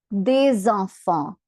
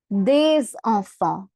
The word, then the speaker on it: des enfants: Liaison rule is basically if the next letter is a vowel, we pronounce the previous letter. So hence we say des enfants.